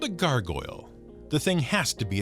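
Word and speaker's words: gargouille: rather to be named gargoyle it's pronounced the same but spelled g-a-r-g-o-u-i-l-l-e and it's a french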